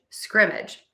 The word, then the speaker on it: scrimmage: Scrimmage. And as you can hear, I am stressing syllable number one.